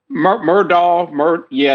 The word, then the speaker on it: Murdaugh: Where you look at Alec Murdaugh, am I pronouncing it wrong? Is it Murdoch? Murdaugh, it's Murdaugh.